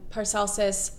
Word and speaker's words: Paracelsus: But it's interesting that Paracelsus, did I say it right?